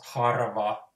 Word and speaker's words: harva: It always the Finnish word for seldom is harva, Harva.